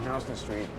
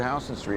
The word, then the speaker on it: Houston Street: But it starts here at Houston Street. And by the way, it's pronounced Houston Street, not Houston Street.